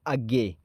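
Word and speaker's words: अज्ञेय: आ से जो आपका आता है वो आता है अज्ञे, मतलब आ से जो पहले कवि आते हैं वो आते हैं अज्ञे जी। ना यहाँ पर साइलेंट है।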